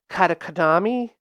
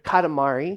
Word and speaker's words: Katamari: Katakatami? Oh, Kanakatumi? wait, no, hold on. Cut it to, Katakatami. I think Katamari? it's Katamari? Katamari.